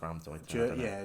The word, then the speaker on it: Raumdeuter: I believe it's pronounced Raumdeuter. German.